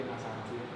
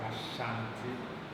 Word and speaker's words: Asante: Here you see that the spelling error is supposed to be Asante. Now when you have Ashanti, this is coming from a British mispronunciation of a Ghana mispronunciation.